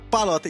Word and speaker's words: Pallotta: Eu não pronunciei errado seu nome, não. Palota, e tá escrito certo aqui, hein?